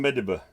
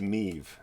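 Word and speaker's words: Medb: testing a story with queen mediba and then later the guy's like no it's pronounced meev and i'm like that's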